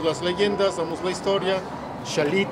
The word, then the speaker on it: Xalapa: leyendas somos la historia shalit y casi nos gustan a nosotros para pronunciarlo como debe de ser como es y terminamos en la